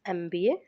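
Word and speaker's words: MBA: Same इस case में भी एमबी वाले में भी जब एमबी बोलते एमबी बोलते हैं।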